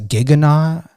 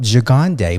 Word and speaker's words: Gigande: I interviewed Cam Gigande, it was pronunciated on some of his interviews as Giganet. I even Googled how to pronunciate his last name. And it came up Gigande, but when I interviewed